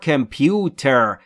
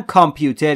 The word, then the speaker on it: computer: Your computer، تلفظش رو قطع کنید، computer. خیلی ها میگن کامپیوتر، کامپیوتر، اینجوری نیست، computer، computer.